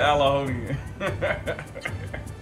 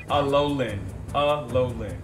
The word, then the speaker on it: Alolan: Can I definitely be like Alaonian? So it's Alolan. You should have a fucking Pokemon pronunciation. Alolan.